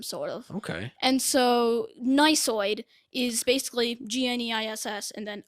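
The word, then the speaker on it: gneissoid: i actually got it so the silent g to start the word i mean and then not only that there's an e i and then there's a double s yeah i'm done i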